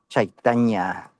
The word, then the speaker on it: Chaitanya: Chaitana. C H A I T A N Y A. Guru Nitan. And that's spelled N I T Y A.